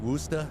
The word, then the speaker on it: Worcester: know a lot of the locals say like woosta at any time that's what I hear but anytime that I try to say it like that everybody's like where are you from that you say it like that so I say Worcester and I still get called